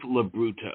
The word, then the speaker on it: LoBrutto: pronounced your name correctly labruto is that correct you got that right okay yeah three times